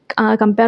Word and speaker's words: compere: Spelling देख लो, CHAUFFEUR, शॉफियर। ठीक है, इसका COMPERE कंपेयर होता है।